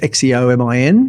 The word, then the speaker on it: Xeomin: One's called Xeomin, spelt with an X, Xeomin, Right.